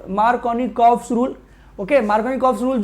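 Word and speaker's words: Markovnikov: लेकिन unsymmetrical substrate, ध्यान से सुनिएगा, for unsymmetrical substrate we need, for unsymmetrical substrate we need Mark rule, मार्कोनिकॉफ rule की requirement होती है।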